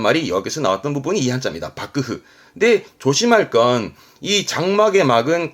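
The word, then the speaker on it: 幕府: 글자는 막자 박고 뒷글자는 정부의 부자죠 이게 막부입니다 발음은 밥그흐 일본어 공부하다 보면 좀 듣는 얘기 단어잖아요 막부이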